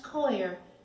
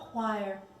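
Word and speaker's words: coir: wiry as coconut fiber, pronounced koer, as in more koi, which I have never been. Not choir like noir, dark, cynical, morally ambiguous, which yes, is me.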